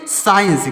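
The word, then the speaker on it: science: साइंस इसको पढ़ेंगे साइंस एस सी आई ई एन सी तो यहां पर सी साइलेंट है यह सी जो है लिखा गया है यह साइलेंट है अगला है एस सी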